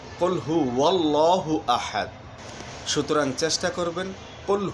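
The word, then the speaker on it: قُلْ هُوَ اللَّهُ أَحَدٌ: ভুলটি হচ্ছে কুল হু আল্লাহু আহাদ, আর উচ্চারণের সঠিকটি হচ্ছে কুল হু ওয়াল্লাহু আহাদ।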